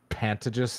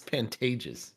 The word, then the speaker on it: Pantages: We saw one of our favorite comedians at the Phantomus Theater. Is that how it's pronounced? I think it's Pantages.